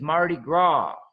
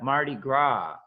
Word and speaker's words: Mardi Gras: So the festival that you talk about is in the French is Mardi Gras. So like we said, we don't pronounce the S in French. So gras is pronounced gras. Yeah, Mardi Gras.